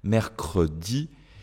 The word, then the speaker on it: mercredi: supprimer notre e rappeller mercredi je ne peux pas supprimer mon e hein à cause de la la structuri c'est pas possible ça ne fonctionne pas 7 tout simplement je dois prononcer ici mon e tout simplement parce que